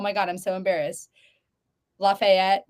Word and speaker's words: Lafayette: Lafayette, right? Oh, Is Lafayette.